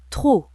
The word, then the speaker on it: trop: Trop, P muet.